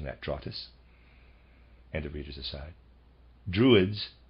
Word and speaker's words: Drottes: that spelled d ro TT es i am pronouncing that draw 'this and the readers decide druids equals oak for this reason the Germanic peoples were said to receive their instructions beneath oak trees draw TISS or druids were ancient germanic initiates they still